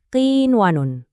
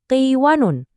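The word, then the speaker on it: قِنْوَانٌ: Kalau kita paksain pakai aturan idgham, bunyinya jadi qiwanun. Kan jadi aneh ya, maknanya jadi rusak. Makanya kita harus baca dengan jelas, dipisah. Qiwanun. Suara n-nya harus kedengeran jelas.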